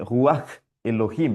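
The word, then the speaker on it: רוח אלהים: Donc, c'est l'Esprit, en fait, dans l'hébreu, en fait, il dit Ruach Elohim. Ruach Elohim, en fait. Si on essaie de le prononcer un peu plus comme les Hébreux l'auraient prononcé, Ruach Elohim.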